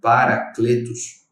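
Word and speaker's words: παράκλητος: né, do grego, que ela é traduzida, ela é pronunciada como Paracletos, tem um significado, irmãos, de alguém que é chamado para ajudar, para encorajar ou interceder por outra pessoa.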